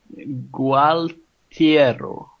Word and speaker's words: Gualtiero: How do you pronounce it? How would you want to Gualtiero.